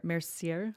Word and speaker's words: Mercier: Francis how do you say his last name Mercier Mercier okay I don't know who that is